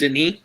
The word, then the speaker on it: Denis: Is that how you pronounce it? She's French. Denis.